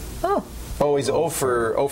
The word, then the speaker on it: Opher: It's not Oprah. It's Ofer. How do you spell it? O-P-H-E-R, like gopher without the G. Oh. Oh, he's Ofer 4?